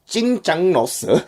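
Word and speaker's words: 짜장면: It's the Jjajangmyun.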